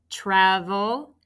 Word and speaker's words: travel: Be careful, it's not ch. It's tr. T-R-A-V, closed syllable. And then did you pick E-L? Travel.